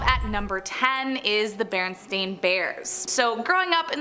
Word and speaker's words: Berenstain: despite what many remember the name Berenstain is spelled with an a like stain but many including myself would put money on the fact that it was Berenstein like with an E the first time I